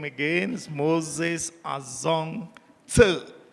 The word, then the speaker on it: Tse: My name again is Moses Azong Tse. That very short surname is pronounced Tse.